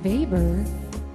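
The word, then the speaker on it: Weber: and the economic system Max vber which I like to rhyme with Darth Vader I've decided Darth vber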